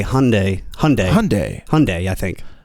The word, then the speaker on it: Hyundai: hell they're called uh it's supposed to rhyme with mundai Hyundai Hyundai Hyundai Hyundai I